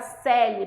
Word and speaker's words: Coeli: Alguém me perguntou se o meu nome, se a pronúncia era Celi, porque eu falo, né, Celi. É latim, tá, gente?